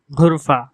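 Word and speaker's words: غرفة: আঞ্চলিক আরবি ভাষায় এর উচ্চারণ হবে ঘুরফা, ঘুরফা। এখানে গয়িনকে ঘ এর মতো উচ্চারণ করা হয়েছে, ঘুরফা, ঘুরফা।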